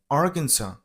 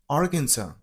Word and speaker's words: Arkansas: You got to stress on the very first syllable R. And the last S isn't pronounced. Okay. So, Arkansas. Arkansas.